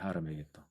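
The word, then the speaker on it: הר מגידו: 하르 메기또.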